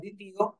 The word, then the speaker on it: দ্বিতীয়: যেমন মনে করো, আমরা বলি না দ্বিতীয়, এই যে দ্বিতীয় বানানে এখানে একটা ব আছে, এই বয়ের উচ্চারণ কিন্তু আমরা করতেছি না।